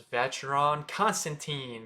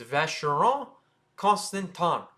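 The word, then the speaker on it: Vacheron Constantin: me as a uh as an American to pronounce so it's jlc next we have fash Von constant also known as veton Constantine that's not how you say it it's Von constanton so again it's not Von Constantine it's Von constant next we're going to talk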